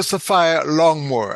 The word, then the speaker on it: Saphire Longmore: What she has a bossy name, so I better make sure I pronounce it correctly. Dr. Saphire Longmore.